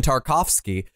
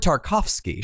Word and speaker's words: Tarkovsky: me here okay yeah so the word tarkovsky yes the name tarkovsky sure contains the syllable car right no I got I got that can you explain that no actually I don't got that that does not occur in that name you've got tar and cough you got them